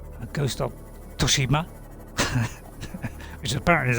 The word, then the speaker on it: Tsushima: I mean, when it comes to serious games, you know, games I absolutely love, like Ghost of Tsushima, which apparently is how you say it.